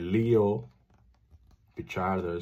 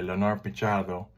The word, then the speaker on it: Leonor Pichardo: English speaking only, and they will call it like Leo Pichardo, supposed to say Leonor Pichardo, but it still counts.